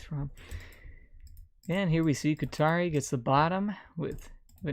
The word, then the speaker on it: ku7ari: those wondering that is Qatari Qatari is this here let me spell it out for you k u7 a RI that is Qatari yes seven stands for T and there is AI